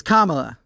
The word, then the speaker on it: Kamala: good one yeah it's it's Kamala it's not that hard people comma comma the little thing L it's easy it's like the most basic syllables we have too we're not asking